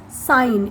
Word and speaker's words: sine: The complete spelling is SINE, but in short we use SIN. It is not sin, it is sine. It is read as, pronounced as sine.